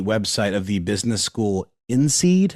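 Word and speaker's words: INSEAD: of the business school in seed I think that's how it's pronounced i-n-s-e-a-d and Manfred FR cats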